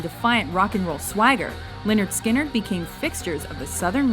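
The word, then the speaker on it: Lynyrd Skynyrd: rock and roll Swagger Leonard skinnard became fixtures of the southern rock scene it's because of this cut off pronounced Leonard skinnard that the band first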